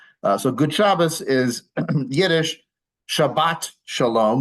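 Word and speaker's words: שבת שלום: good chabas is yish Shabbat Shalom with a hard T at the end would be the Hebrew way of saying that so AAL would be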